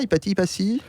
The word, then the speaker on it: Hypatie: La plus grande femme de tous les temps pour vous est Hypatie, ça on le prononce comme ça, Hypatie.